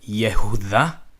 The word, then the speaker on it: Yehuda: yeah of yeah of this is pronounced to is as a Yehuda yeah whoo-hah or yeah whoo-hah yahooza yahooza yahooza so that's yahshua and